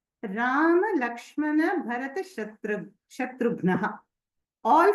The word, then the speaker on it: Rama: Whereas we have to say Rama, Shama correctly. And in south, they'll say Raman, Shaman, Ramanaka, like that. But in Maharashtra, I've seen that is beautifully pronounced. It is neither too hraswa nor too dirgha.